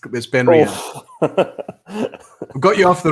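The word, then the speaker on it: BenRiach: It's not a Glen, but it rhymes with Glen. Well, yeah, Ben Riach, possibly. Is it Ben Riach? Yes, it's Ben Riach.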